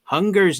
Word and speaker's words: Hun-Grrr: The official spelling of Hunger's name is HUN-GRRR. So the way you pronounce his name, you're supposed to pronounce his name like Hunger.